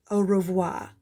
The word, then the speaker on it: au revoir: i tell my fans au revoir you say it like this au revoir that's french for goodbye on my door i